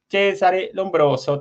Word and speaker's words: Cesare Lombroso: Cesare Lombroso, te lo digo pronunciando en italiano.